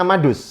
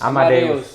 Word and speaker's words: Amadeus: Bacanya Amadus. Amadeus.